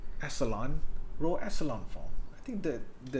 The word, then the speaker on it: echelon: Or what we call here is the row echelon, echelon, row echelon form. I think how to pronounce echelon?